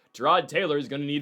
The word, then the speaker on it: Tyrod: You're going to need, Tyrod, as Baker Mayfield says it's supposed to be pronounced, Tyrod Taylor is going to need to get the football to Breece Hall.